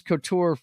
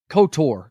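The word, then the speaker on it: KOTOR: you guys aren't watching his Couture uh cotor excuse me let me pronounce that correctly k o t o r kns of the Old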